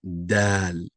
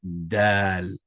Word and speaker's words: dal: So we'll start off with the letter D. Dal. And this letter is pronounced as dal. Dal, right? Not d, but dal. Dal.